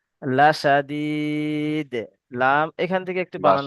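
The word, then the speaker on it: لشديد: খরি খরি লাসা লাসাদিয়াহুজু না, লাসাদিদ। লাম এখান থেকে একটু বানান লাসা আচ্ছা, এটা পড়েন পড়েন, তারপরে আমি বানান করতে বলবো।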